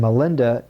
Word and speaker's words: Milinda: And Milinda is the Pali pronunciation of the Greek name Menander.